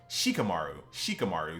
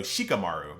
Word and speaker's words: Shikamaru: I have to make sure that I go out of my way to try to pronounce every letter. Because like in the English language, we skip a lot of letters. A lot of letters are silent. Not here. So Shikamaru. Got to make sure you pronunciate every single letter.